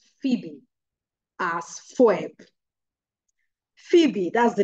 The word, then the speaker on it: Phoebe: thing you just said, there's nothing like Foebo. It's actually Phoebe.